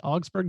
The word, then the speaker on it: Augsburg: He is studying in international relations and comparative politics, and he is from Augsburg. Am I pronouncing that correctly? Augsburg, Germany? Yes, yeah, you pronounce it correctly.